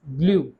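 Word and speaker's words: glu: Consonant के साथ आ रहा है तो कैसे प्रोनाउंस हो रहा है? जे एल यू। वर्ड है हमारा ग्लू।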